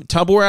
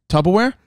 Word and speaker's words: Tupperware: saying say it again Tupperware say it again slow Tupperware slow very slow first say the first syllable tub wrong what do you mean